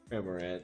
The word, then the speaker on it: Cramorant: Cramorant, is that how? Yeah, that is how you say it. Okay, I wanted to make sure. Cramorant.